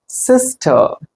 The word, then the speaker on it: sister: இங்க பாருங்க, இது எப்படி வாசிக்கணும் அப்படின்னா சிஸ்டர், சிஸ்டர். இந்த ஐ சவுண்ட் வந்து கொஞ்சம் சைலண்டா மாறிடும்.